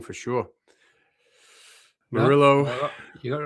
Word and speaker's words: Murillo: I'm pronouncing that wrong for sure. Murillo.